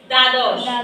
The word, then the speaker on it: দ্বাদশ: আচ্ছা, দয় নিচে যদি প্রথম বর্ণ, আমরা কালকে পড়ছিলাম, প্রথম বর্ণের সাথে যদি বফলা বসে, বফলার কি উচ্চারণ হয়? জি না।